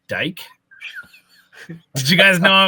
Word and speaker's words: Dike: Dike, right? How else would you say? That's how you pronounce it. Yeah. Is bike, right?